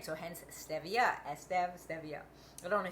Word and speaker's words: stevia: ariol cocoa butter and Stevia some people pronounce it Stevia it's actually Stevia the reason I know